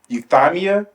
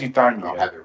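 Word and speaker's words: euthymia: cica Greek word you how do you say it euthamia uh I think it's euthamia it's e t h y m i a I believe it's you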